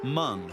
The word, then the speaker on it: Hmong: asia they are the hmong that's mung spelled with an h the largest asian community